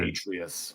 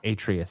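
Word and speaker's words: Atreus: beard and the little uh I can't ever pronounce his name right. Atrice or trace or Atrius. Atrius.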